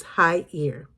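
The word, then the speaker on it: Khair: It's spelled K H A I R one of the words on there, but it's high ear. It's really weird.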